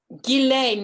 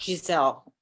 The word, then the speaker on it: Ghislaine: It's Ghislaine, not Giselle.